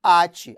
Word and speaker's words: ate: Nós temos aqui, ó, até, que é diferente de ate. Poxa, Silvio, ate? É, irmão. Aqui, ó, até e ate. Até é uma oxítona, vamos já ver isso, e o ate é uma paroxítona.